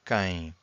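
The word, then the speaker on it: quem: So this U here is silent. So K it means who.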